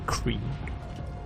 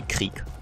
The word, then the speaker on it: Krieg: I pronounce him Krieg because it's basically the German word for war, and that's why I pronounce it in a very German way. I guess the English pronunciation would be Krieg or something, but it's actually Krieg.